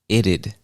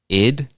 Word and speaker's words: it'd: And some people pronounce it like id, like ID, id. Some people pronounce it like it'd. It'd. Both options are correct, so do whichever one is easier for you.